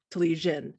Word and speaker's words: Telizyn: unpronounceable maiden name yes my last name is tulisian and though it's read in um english as zinn it's because it was misspelled when it translated from cyrillic so my background is ukrainian um and so talishin is how you pronounce it so infinity design